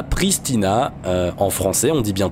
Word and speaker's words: Pristina: ça parce qu'en réalité c'est pristin alors je sais pas comment on prononce en tout cas en français on dit Pristina point barre c'est beaucoup plus simple